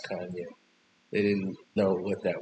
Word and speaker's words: Kanye: Kanye is the guy that they called Kane. Some people called him Kane cuz they couldn't pronounce Kanye.